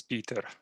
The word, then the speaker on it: Petr: to welcome peter or petr from the oracle team hi petra hi yeah the correct pronunciation is peter okay cool hey thank